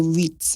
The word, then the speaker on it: REIT: It's spelled it's the acronym is reit. It's called a RIT, right?